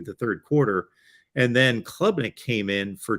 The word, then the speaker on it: Klubnik: between Ungalele and I have a hard time pronouncing the other quarterback. Is it Klubnik? Klubnik, yes.